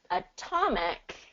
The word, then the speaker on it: atomic: more than the others so in this one Adam ad a is the stress syllable but in atomic T yeah is the stress syllable so it's actually going to get more of that t pronunciation so we're not going